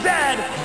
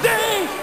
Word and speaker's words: Zed: is a coach and it is pronounced Zed not z z Canada is the